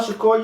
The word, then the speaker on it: Shakur: So go ahead and go on YouTube, Shakur. You know how it's spelled. Utah with a P, Shakur like Tupac.